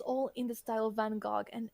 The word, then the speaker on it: Van Gogh: more like Van Gogh. Like Yeah, it it's has a. French. I Sorry, don't know it's- the it's- exact I thing. it's just, usually we pronounce that in French. Sorry.